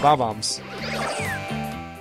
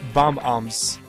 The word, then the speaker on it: Bob-omb: When I was young, I always pronounced them as bob-ombs. Well, that's how you say bob-ombs. They're not... I always said bomb-ombs, but their names are bob-ombs.